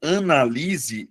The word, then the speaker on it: analise: O primeiro caso, analise, é verbo, Luana. Mas aí você vai perceber, analise. A sílaba tônica é a anterior. Beleza? Eh, é a penúltima sílaba.